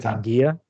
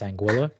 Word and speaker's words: Anguilla: we thought it was angua like because it actually comes from a Spanish word meaning eel but it's a British Island and they pronounce it anguila so it's Spanish origin pronounced British so it's just racist